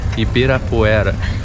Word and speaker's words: Ibirapuera: That's Ibirapuera. It's hard for you to pronounce that.